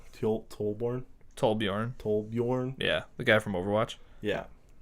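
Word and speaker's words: Torbjörn: But yeah, no, he's Trollborn. I always say it wrong. Tollborn. Tollbjorn.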